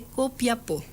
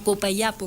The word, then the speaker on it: Copiapó: 2 años en las minas del valle de Copiapó. O Copayapo. Copayapo en esa época. Copayapo. Por esta nuestra sentencia definitiva, así lo pronunciamos y mandamos.